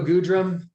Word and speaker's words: Goodrum: Okay, could you do me a favor and not call him Goodrum? Because his name is Good Rum, and you just shouldn't, even if that's not how it's supposed to be pronounced, just give him the cooler pronunciation.